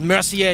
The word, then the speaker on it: Mercier: Hummel makes the call it's pronounced Mercier you punk to the